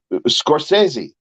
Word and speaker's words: Scorsese: changed the pronunciation of words yes they have Scorsese has changed his this pronunciation of his name and there's a whole